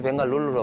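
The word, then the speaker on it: Bengaluru: 이제 벵갈로우라고 하는데 왜 벵갈룰루로 바뀌었냐면은 인도는 잘 아신 것처럼 각 지방마다 좀 언어가 좀 다릅니다. 그래서 그 벵갈룰루를 둘러싸고 있는 그 지역의 언어대로 발음을 하니까 이제 벵갈룰루로.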